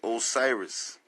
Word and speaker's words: Osiris: It's saying Osiris. It's saying Osiris. See that? It looks like a C, but that's actually pronounced like a I.